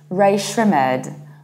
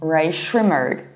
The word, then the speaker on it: Rae Sremmurd: R-A-E, S-R-E, Shrimp, M-M-U-R-D, Rae Sremmurd.